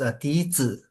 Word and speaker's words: 笛子: It's pronounced as Dizi.